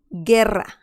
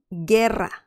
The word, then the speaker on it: guerra: dish okay so now we know that if we add the letter u like here at the end of everything right here ge okay we get those sounds perfect now let's see